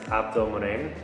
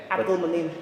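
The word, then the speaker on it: Abdelmone: Don't try to pronounce it. It's Abdul Mon. Uh, but I call Yeah. Abdul Mon.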